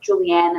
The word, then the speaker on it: Julianne: say my name incorrectly it's julianne it's not julie don't ever call me julie but um i always